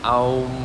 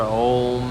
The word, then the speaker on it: Om: So OHM, pronounced Aum or Om, however you want to do it.